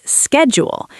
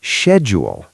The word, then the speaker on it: schedule: In America, we say schedule. It starts with a K sound, S K, schedule. And in the UK, we say schedule. It starts with a sh sound, like she.